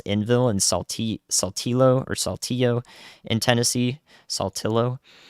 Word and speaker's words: Saltillo: and Saltillo in Tennessee, Saltillo, and to get the southern pronunciation there.